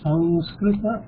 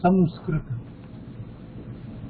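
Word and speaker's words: संस्कृत: In Sanskrit, we should pronounce it as Sanskrita or Samskrita. There is no ma. We just now discussed. There is no ma. There is no Samskrita. Sanskrit. Yeah, Sanskrita.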